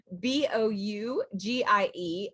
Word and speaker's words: bougie: spellings it could be b-o-u-g-i-e and it's pronounced like b-o-o-z-h-e-e so boujee gotta get the z bougie and that is